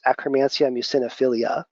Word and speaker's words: Akkermansia muciniphila: Akkermansia muciniphila, or often pronounced Akkermansia muciniphilia, okay, is a very important bacteria for maintaining the mucosal or mucin layer of the gut.